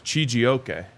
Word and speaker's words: Chijioke: Ike, commenting on pronunciation, says Chijioke, which is actually way cooler than what I said. So might go with that one.